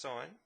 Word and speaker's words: sin: I'm going to use sine spelled sin pronounced sine and its opposite over